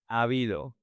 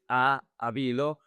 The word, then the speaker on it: ha habido: Ha habido. Attention with the pronunciation. The two A's merge. So, you don't say a habido.